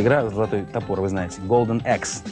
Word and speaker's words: Golden Axe: Потому что, знаете, бывает, говорят, там, есть такая игра, золотой топор, вы знаете, Golden Axe. Как вы только не называют? Golden Ahi, Golden Axe, Golden, в общем, ужас, слушать невозможно.